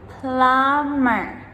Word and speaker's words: plumber: Subtle, subtle, doubt, doubt, debt, debt, numb, numb, plumber, plumber. So, as you can hear in all of these words, that letter B, we do not pronounce it ever.